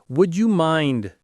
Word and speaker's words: would you mind: Would you mind doing something? Would you mind? The stress is on mind. Notice how would you often blends into would ya.